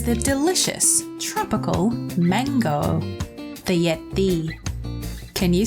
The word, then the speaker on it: ရက်: What it's doing here is telling us that the yagao before it is pronounced with a glottal stop.